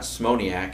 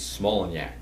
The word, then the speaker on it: Smolenyak: says no he says your name is not smiac it's smiac even today as I